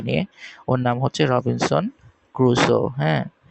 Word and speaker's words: Crusoe: ওর নাম হচ্ছে Robinson ক্রুসো, হ্যাঁ। এটা উচ্চারণটা হবে ক্রুসো, CRUSOE, ক্রুসো, Robinson ক্রুসো।